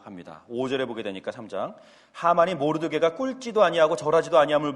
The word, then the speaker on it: 하만: 독특하게 생겨서 하마라고 불렀었는데, 그래서 이것을 읽을 때마다 자꾸 이 받침이 자꾸 저는 빠지게 되는 것 같아요. 그래서 하마라고 읽게 되는데, 아무튼 하만이 나옵니다.